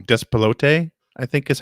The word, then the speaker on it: Despelote: Despelote, I think is how it's said.